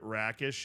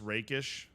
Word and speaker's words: rakish: I apologize to inform you've been uh mispronounced ing the word rakish it's raish I have I've been